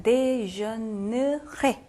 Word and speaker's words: déjeunerai: 자, 그래서 어떻게 발음하셔야 되냐면 여기 발음을 안 하셔야 돼요. 자, déjeunerai 이렇게 되겠죠.